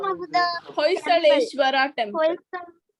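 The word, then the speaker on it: Hoysaleswara: The pronunciation of the Hoysaleshwara temple. Hoysaleshwara temple.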